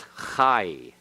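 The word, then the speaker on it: חַי: the Haythe Pathak yodh the path ak+ yodh is i so that is high all right yeah you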